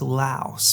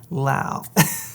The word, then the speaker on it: Laos: Most people see it, they think it's pronounced Laos, but no, it's pronounced Laos.